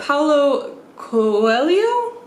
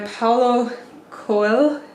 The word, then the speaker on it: Paulo Coelho: My husband has told me several times how to say it, but Paulo Coelho? Something like that. I know it's pronounced, like the H is pronounced different in Portuguese.